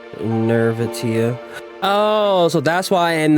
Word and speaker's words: Nirvatia: In Chinese, it's pronounced Nirvatia. In English, Nirvatia.